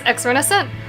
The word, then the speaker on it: xRenascent: I'm actually reconsidering on changing my name, but yeah, it's X-Renaissance.